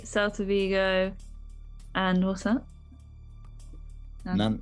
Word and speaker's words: Nantes: Nantes. Nantes. Nantes, I think it's pronounced. Right, okay. Yeah, not spelled Nonce. I should point out.